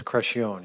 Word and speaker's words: Crescione: Crescione, am I pronouncing that name correct? Pretty close, Crescione, yes, sir.